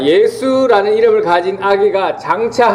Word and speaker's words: 예수: 여호수아라는 히브리어를 헬라식으로 표현하면 예수 되겠습니다.